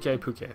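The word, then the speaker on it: Pukei: Oh, Pukey. That's how you say it. Where the resource center is. Thank you for actually reading a line for a change so I could figure out how the hell that's pronounced. Pukey. Makes sense. The K-E-I there, that seems like exactly how that should be pronounced.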